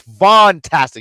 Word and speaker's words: Vantastic: Von Wagner the vastic I feel like people say it wrong it's vantastic you gotta say vantastic it's a v but the vantastic Von